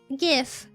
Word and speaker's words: GIF: We're talking about how to pronounce the word GIF. GIF. So is it GIF or is it GIF? Is it GIF or GIF? That's the war that's happening here right now, and I'm fighting chat because I say it like GIF, and chat is saying that it's GIF.